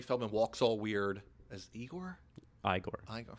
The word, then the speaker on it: Igor: As Igor? Igor. It's pronounced Igor.